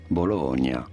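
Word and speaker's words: Bologna: is normally said as bolog you do want to stress on the middle syllable bolog on the low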